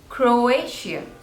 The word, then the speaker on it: Croatia: Coast next is Croatia Croatia so there are three syllables Crow a sheer and the stress is on the second one Croatia Croatia Croatia